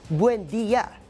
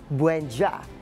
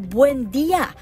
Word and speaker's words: Buendia: Ang pagkakalito, Buendya hindi Buendja. Sa isang maikling video, nilinaw